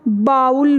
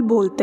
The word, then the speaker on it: bowl: है, BOWL, ठीक है, इसको हम बाउल बोलते हैं, जो गलत है, ठीक है, ये देखें गलत जो है बाउल, क्योंकि हमें लगता है वो OW साउंड है तो बाउल होगा, it shouldn't be pronounced as बाउल, rather than that simple से इसकी प्रोनाउंसिएशन है बॉल, ठीक है, जैसे हम